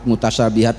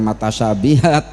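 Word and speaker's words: متشابهات: Muhkamat dibaca mahkamat, mutasyabihat dibaca matasyabihat ya.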